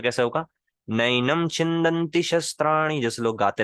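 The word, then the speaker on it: नैनं: जैसे नैनम नहीं होता, नैनम, आई। नेनम नैनम नहीं होता, नैनम, आई। अब ये सुनने में थोड़ा सा हह, जैसे लोग कहते हैं शहरों में रहने वाले ना, कुछ लोग कहते हैं गांव का गंवार है। सुनने में हो सकता है थोड़ा थोड़ा वैसा लगे, ये भैंस, नैनम। लेकिन रियल प्रोनाउंसिएशन यही है संस्कृत की।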